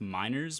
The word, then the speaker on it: Meiners: I don't know how German we are in heritage, but like you see MEIN. Most people, I feel like, are smart enough to understand that it's pronounced miners, but like you have